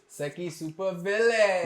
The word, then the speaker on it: SEKI Supervillain: You gotta say it like this: SEKI Supervillain.